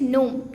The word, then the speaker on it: gnome: Now the next one is gnome. G-N-O-M-E. Gnome. Here also the first letter is silent.